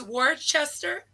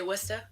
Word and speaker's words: Worcester: Worcestershire sauce yeah yeah but it spelled like War Chester but you would never say that no what would you say Worcester Worcester Worcester yeah Worcester I don't